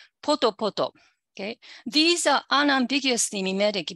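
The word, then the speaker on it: ぽとぽと: Okay, so pata pata and D, actually D, poto poto. Okay, these are unambiguously mimetic because they have P initially. These forms have the accent on the initial syllable.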